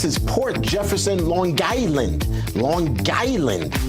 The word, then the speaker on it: Long Island: Port Jefferson Long Island Long Island got to pronounce the G too so good to have